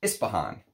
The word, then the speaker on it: Ispahan: And in English, it's basically pronounced Ispahan, right?